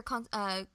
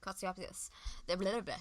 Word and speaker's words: Kotsiopoulos: Well, to the director, to Peter Kotsopoulos. Thank you, Kotsiopoulos. I can't say his name well. The Greek does not flow off my tongue.